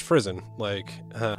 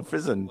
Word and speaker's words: frisson: I thought it was pronounced Frizzen, okay, there you go, Frizzen. Like prison.